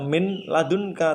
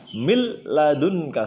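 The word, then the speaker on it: من لدنك: Bacanya tidak min ladunka tapi diidghamkan secara langsung berubah menjadi mil ladunka, seakan-akan tasdid ya. Mil ladunka tanpa dengung. Kalau dengung mil ladun, nah itu salah. Tidak pakai dengung, jadi langsung mil ladunka.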